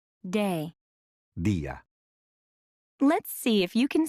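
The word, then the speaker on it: día: listen to the way you would say day dia let's hear that again dia how do you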